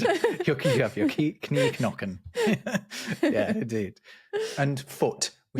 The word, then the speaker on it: Knie: in front of it, where you used to pronounce the K sound which was a C in Old English, knie. Yeah, and in German, again, it is Knie now.